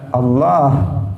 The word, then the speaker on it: Allah: Tidak boleh juga seseorang mengganti lam dengan wawu. Allah itu pakai lam, tetapi tafkhim, dibaca tebal. Tidak boleh kemudian apa? Di lamnya diganti dengan wawu. Dia mengatakan Allah pakai wawu. Nah, itu juga tidak pas. Nah, kita orang Jawa biasanya yang sering salah. Nah, dia mengatakan Gusti Allah pakai wawu, bukan pakai lam.